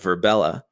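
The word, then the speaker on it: Virbela: selected a platform for the virtual conference called verbella which is spelled v-i-r-b-e-l-a and it's a virtual world david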